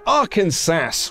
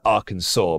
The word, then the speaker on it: Arkansas: latest signing snow also I know it's Arkansas but it's spelled arest I thought it'd be funny to say it that way it's not it's not